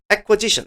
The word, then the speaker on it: acquisition: acquisition, 발음은 조금 다르죠? 그죠? acquisition, S입니다, 이거. acquisition입니다.